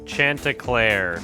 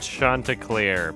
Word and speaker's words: Chanticleer: What a stupid name, Chanticleer, or sometimes pronounced Chanticleer.